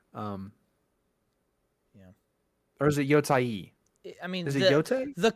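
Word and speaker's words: Yōtei: ghost of Y um yeah or is it yoai I mean the correct pronunciation is yoai but no one call calls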